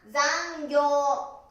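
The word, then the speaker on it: 残業: 発音は残業、残業です。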